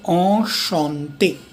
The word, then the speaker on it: enchanté: So you have enchanté. En is pronounced as ch is sh, like here, right.